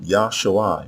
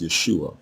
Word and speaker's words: Yeshua: again must stress that the noun yahshua which is mispronounced yeshua is not a personal